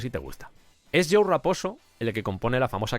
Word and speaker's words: Raposo: Y quiero mencionar aquí el nombre de Joe Raposo, lo pronuncio Raposo, así muy españolizado, que lo he mencionado